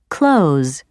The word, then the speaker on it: clothes: shiftless shiftless listless listless occasionally th may be either dropped or changed for example the most common pronunciation of the word clothes is clothes other examples of this